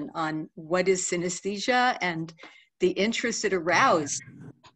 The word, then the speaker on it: synesthesia: do you pronounce synesthesia so synesthesia might remind us of a more familiar word anesthesia and as we know